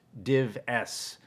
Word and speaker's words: dives: real division of esoterica dives pronounced div s by those in the know but there weren't many